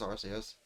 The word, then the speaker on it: Arceus: the pokemon known as rcs i still like this soft c that sounds more like an s but again that's kind